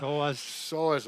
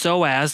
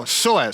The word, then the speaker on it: psoas: We need to talk about the pronunciation of the psoas muscle.